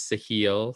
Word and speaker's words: Sahil: But I did look it up, and it is Sahil. So we said it wrong earlier in the episode.